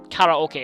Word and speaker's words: karaoke: spend it seeing karaoke well karaoke is the more correct Japanese pronunciation it's basically short for